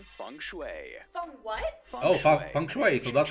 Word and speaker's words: Feng Shui: Oh, Feng Shui, so that's how you say it.